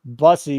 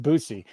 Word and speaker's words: Bussy: Apparently I didn't teach you about Bussy because it's pronounced Boosie.